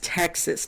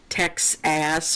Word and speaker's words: Texas: But it's Virginia, it's Maryland, it's Texas, not Texas ass or anything like that. Don't add syllables um to words that don't need syllables.